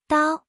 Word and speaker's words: 刀: In today's video, we'll teach you the Chinese character for knife, pronunciation. Dao.